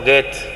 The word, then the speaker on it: Goethe: Y Goethe, o Goethe, como se pronuncia, un escritor alemán muy